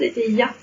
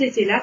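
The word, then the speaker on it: Etteilla: Le grand était là. Oui, bien joué. Ah. Bien joué. Alors très souvent, je l'entends mal prononcer parce que les gens disent le grand était ya.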